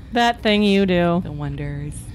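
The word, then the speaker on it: Oneders: american one yeah the drummer from uh the oh nighters what became a werewolf oh that thing you do the wonders pronounced donaters but it didn't seem that interesting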